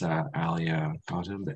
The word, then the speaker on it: Alia Kotb: So today I'm happy to have with us Alia Kotb and Farah Hoque from Esri. Am I pronouncing that right?